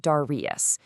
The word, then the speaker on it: Darrieus: That's Darrieus.